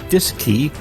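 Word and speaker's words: DSKY: and keypad known as the D s KY pronounced disc II on board both the CM and LM Mission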